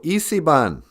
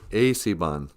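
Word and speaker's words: esiban: Sometimes people read that and they'll be like, oh, Isiban. Isiban means raccoon, but it's Asiban.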